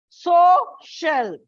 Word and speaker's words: social: Social. Now, social is a disyllabic word. So it comes on the first syllable.